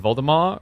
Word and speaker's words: Voldemar: learn recently that Val in Voldemar rhymes with pal not tall.